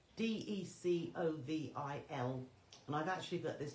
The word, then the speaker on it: Decovil: I did say Decaville. It's spelt without the LE on the end, so Decovil.